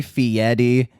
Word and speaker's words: Fieri: Although he does do the Italian pronunciation, the Fieri, which is the only like affect of like fanciness that Guy presents.